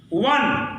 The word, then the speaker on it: one: वन, ओ यानी वन, ओ से शुरू है लेकिन व से हो रहा है, ओ यानी वन, वन है लेकिन व से हो रहा है।